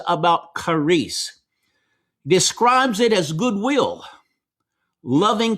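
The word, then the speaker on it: χάρις: Um but the Greek word that Paul used is charis, and we would in English in our English letters we would spell it c h a r i s, charis.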